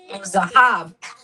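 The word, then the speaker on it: זהב: This second letter would be a zahab.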